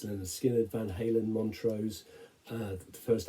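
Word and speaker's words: Lynyrd Skynyrd: I don't think that, well, I know they didn't ever better it, and for me, alongside pronounced Leonard Skinner, Van Halen, Montrose, the first album by The Clash, there are some examples of some wonderful debut albums.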